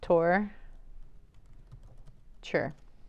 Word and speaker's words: torture: pronounce the word torture torture torture it's like this tour sure I see torture torture